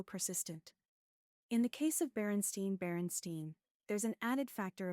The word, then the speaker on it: Berenstain: In the case of Berenstain Berenstein, there's an added factor of pronunciation. The surname Berenstein is pronounced with a long A, which is unusual in English.